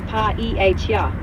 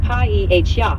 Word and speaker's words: paella: Tortilla is pronounced tortilla, and paella is pa-e-h-ya.